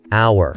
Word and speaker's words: hour: So, hour starts with a silent H and sounds like it starts with an O. So, you'd say an hour, it's all about the sound.